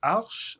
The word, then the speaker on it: Arch: Is it Arch or is it Arch or how do you pronounce your last name? Well, it's Arch. It's Arch.